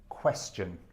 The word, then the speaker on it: question: the correct pronunciation is question question okay an accent on the first syllable question question and then